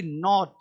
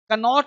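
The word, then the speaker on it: knot: नो नो नो मतलब जानना और के तुम्हारा साइलेंट है के एन आई एफ E knife चाकू के एन ओ टी नॉट कनोट नहीं नॉट गांठ बांधना नॉट नॉक कनॉक नहीं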